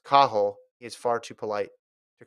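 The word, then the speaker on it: Cathal: said my fellow irishman kathal dennehy which is what you and i say catholic is pronounced kahol is far too polite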